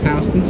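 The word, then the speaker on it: Houston Street: where hon street it's it's spelled like Houston but uh it's pronounced houseon Street that's when I'll turn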